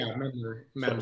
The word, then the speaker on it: Mandler: So now I've talked to your trainer a little bit, Brad Mandler, if I'm pronouncing that right? Yeah, Mandler.